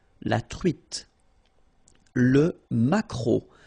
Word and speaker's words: maquereau: T, la truite, le maquereau. So technically this K, just pronounce it K, maquereau, maquereau. Alright? And then E, A, U, remember when you combine these three vowels, you get the sound O, maquereau.